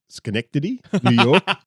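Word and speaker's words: Synecdoche, New York: No, sorry, I'm going to pronounce it correctly. Schenectady, New York.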